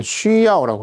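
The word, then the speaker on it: 需要: 중국 발음은 쉬야오라고 하는데 쉬야오, 필요로 한다.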